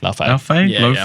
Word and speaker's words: Laufey: Yeah, how do we pronounce that? Laufey. Laufey. It's Lao. Laufey.